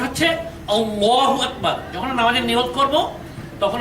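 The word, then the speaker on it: الله أكبر: আকবার কিন্তু আমাদের দেশের অনেক মানুষ উচ্চারণ করে আল্লাহু আকবার কিন্তু উচ্চারণটি সঠিক নয় উচ্চারণটা হচ্ছে আল্লাহু আকবার যখন নামাজের নিয়ত করব তখন আমরা হাত বাঁধার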